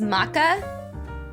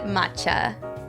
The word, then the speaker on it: matcha: Isn't it pronounced maca? I have only ever pronounced it matcha. Only ever. I'm not Japanese though, so Japanese people may pronounce it differently.